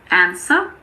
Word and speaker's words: answer: There are also a few random words with a silent W. Some common ones are answer, sword, and two, the number 2.